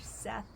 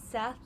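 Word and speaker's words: Szeth: I think that's how you say it, S-Z-E-T-H, Seth.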